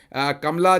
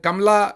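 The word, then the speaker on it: Kamala: बहरहाल कमला, उनको कामला यहाँ पर कहते हैं, लेकिन वो जो उसकी सही प्रोनाउंसिएशन हिंदुस्तान से होगी वो कमला होगी।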